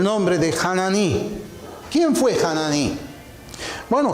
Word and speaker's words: Hanani: si así se pronuncia yo he aprendido a leer la H como J como una jota abierta hanani fue quien le